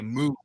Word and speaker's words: Moog: and we say the two O's like roof. So we say Moog. In the States it's two O's but they say you know Moog like Bob Moog was the guy's name and so they say it like because they say roof roof Moog.